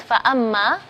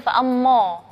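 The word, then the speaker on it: فأما: Huruf mim adalah huruf yang tipis, maka di situ alifnya kita bacanya tipis, fa'amma. Enggak boleh bacanya fa'ammo, enggak boleh.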